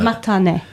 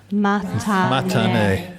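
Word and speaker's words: またね: Matane. Matane.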